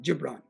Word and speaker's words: Khalil Gibran: It's a Middle Eastern philosopher called Khalil Gibran. It's spelled Khalil, K-H-L-I-L-G-I-B-R-A-N is his last name, Gibran.